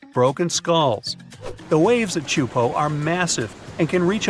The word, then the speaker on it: Teahupo'o: It's pronounced Teahupo'o and it means broken skulls in Tahitian. Yeah, you heard that right. Broken skulls. The waves at Teahupo'o are massive and can reach up to 23